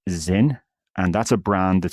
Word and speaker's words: XYN: it has a name xyn pronounced Zin and that's a brand